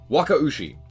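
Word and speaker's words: Wakaushi: we're going to start with the new stuff Waka USI yes that is technically how you say it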